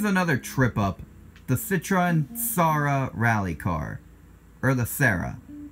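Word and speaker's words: Xsara: trip up the Citroen saara rally car or the Sarah lisara the X is silent I know that for a fact but how's it Sarah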